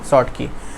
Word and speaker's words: Schottky: इसमें थोड़ा सा स्पेलिंग देख लीजिएगा, SCHO होता है, TKY, है ना, शॉर्ट की, कि मतलब आपके पास इसको शॉर्ट में पढ़ते हैं SCH फिर OTTKY।